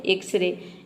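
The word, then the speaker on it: X-ray: एक्सरे में देखिए word के शुरू में एक्स आया है, लेकिन यहाँ पे एक्स को हम ज नहीं प्रोनाउंस करते हैं, यहाँ पे एक्स को हम एक्स ही प्रोनाउंस करते हैं। ये होता है एक्सरे।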